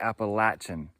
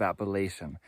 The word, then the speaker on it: Appalachian: me in the comments to uh say appalachin instead of Appalachian I hear you I know that it's Appalachian down south and that pronounced Appalachian up North but I am from Connecticut and uh it's hard to get that out of my tongue so sometimes I say appalachin to uh embrace the South but uh sometimes when